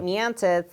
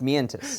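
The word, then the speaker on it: Mientus: was in carry off sounds like metis but it's it's metis did you do it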